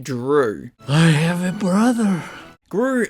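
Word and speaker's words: Dru: also named Gru but the G is replaced with a d and it's pronounced Drew I have a brother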